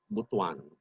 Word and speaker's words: Butuan: I'm sorry, I have to keep on using Butuan as an example just to impress upon the people from Luzon that you pronounce it Butuan. Okay? Don't pronounce it like you read it kasi ibang ibig sabihin yan sa Bisaya, which is our national language.